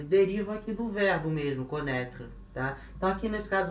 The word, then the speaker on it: connaît: Lembrando que independente se ele está com acento ou sem acento, a pronúncia é a mesma.